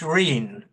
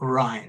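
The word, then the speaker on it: Rhyne: ago um aene I it's pronounced Rene RH y NE e um not Ry Rene in Somerset I think it's Ry in Wales or something like that um it's this is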